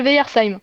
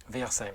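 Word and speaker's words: Weyersheim: Alors, comment tu peux me le prononcer correctement? Parce que du coup, Alors, Gris Souffel Veyersheim, Veyersheim, très le bien.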